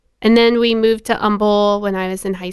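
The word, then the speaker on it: Humble: it's tumble but or umble whatever Umble we're so Umble we don't pronounce the h we just foro the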